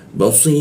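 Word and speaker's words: بصير: Nah, ini ya-nya dimatikan, ro-nya dimatikan seolah membentuk bendera ya. Maka di si-nya itu ada bendera, kita panjangkan 3 ketukan cara membacanya. Basir, seperti itu.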